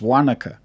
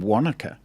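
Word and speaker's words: Wānaka: me funny and go oh you mean wanaka i'm like no i mean wanaka so it's such a simple yeah a subtle difference and yet it's enough for other people to go oh you said it wrong i'm like actually you're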